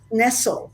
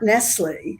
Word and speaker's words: Nestle: And I should say, by the way, that my name is pronounced Nestle, not Nestle.